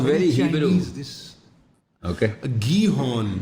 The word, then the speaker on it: Gihon: How do you spell that? Gihon? Gihon. Sounds very East Asian, nahi? Sounds very Hebrew. Okay. Gihon. جی Hong نہیں.